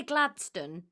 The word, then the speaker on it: Gladstone: am i saying because i want to say gladstone but that's not it both are fine so glen stains is sort of the old scott's pronunciation and it's where his name comes from gladstone is just the anglicized sort of modern pronunciation of it okay i'm gonna be